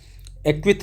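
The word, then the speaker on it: Asquith: Justice एक्विथ रहते हैं। यहां यस साइलेंट है।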